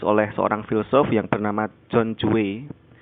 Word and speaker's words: Dewey: seorang filsuf yang bernama John Dewey. John Dewey itu nulisnya D-E-W-E-Y ya, bukan pakai J, bacanya J, John Dewey.